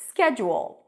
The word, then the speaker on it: schedule: the first syllable SK notice that you're not adding any vowel before not es okay if